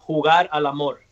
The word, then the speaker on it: Jugar al Amor: it, and then I would know, how to pronounce it. Well, it's a single, and it's called Jugar al Amor.